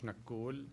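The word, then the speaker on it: Nakhoul: right And your name My name is Nakul Nag Okay I meant Can you spell that for the record please Sir N A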